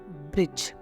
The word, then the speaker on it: bridge: For example ब्रिज, BRIDGE, ब्रिज। यहाँ पे हम डी को साउंड नहीं करने वाले, क्योंकि यहाँ पे जी